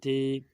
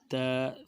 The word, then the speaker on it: ت: لکھا ہوا ہوتا ہے حروف مفردات کو تجوید و قرأت کے مطابق عربی لہجہ میں ادا، اردو تلفظ سے پرہیز کریں، یعنی بے، تے، ثے، ہے، خے، توئیں، زوئیں وغیرہ ہرگز نہ پڑھیں، بلکہ با، تا، ثا، حا، خا، طو، ظا پڑھیں۔ تو اسی طرح جب با